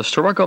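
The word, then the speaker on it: Starrucca: It may be spelled one way and pronounced another, but we heard locals call it the Sturroco Viaduct.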